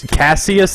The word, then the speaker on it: Cassius: His name Clay, is Cassius Green. But it's spelled Cassius. That's what it's spelled. But it's called His name's Cassius.